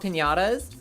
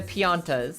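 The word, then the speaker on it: Pianta: As a kid, I always thought they were called piñatas or piñas or whatever. But no, piana right there. They're just the pianas.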